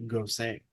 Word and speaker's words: Gose: I hate to be that guy, but like I actually just learned the other day that it's pronounced "gosay."